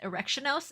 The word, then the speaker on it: Erectionos: Because apparently, according to Dark, his name is pronounced Erectionos and no other way. Every other way it's pronounced is incorrect, and it's specifically Erectionos.